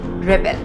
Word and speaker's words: rebel: जब हम इसे नाउन फॉर्म में यूज करते हैं तो इसकी प्रोनाउंसिएशन होती है रेबेल. जैसे कि she is a rebel against injustice. लेकिन अगर हम इसी वर्ड को वर्ब की तरह यूज करते हैं तो इसकी प्रोनाउंसिएशन हो जाती है रिबेल.